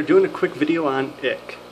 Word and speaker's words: ich: Hey guys, I'm a Fish Guy here doing a quick video on ick. It's spelled I-C-H, not I-C-K, even though it is spelled like that quite often.